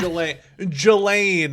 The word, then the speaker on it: Ghislaine: Ghislaine is how you pronounce it.